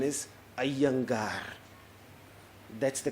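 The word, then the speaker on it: Iyengar: so I came to know that the correct pronunciation is a younga that's the correct pronunciation in South India I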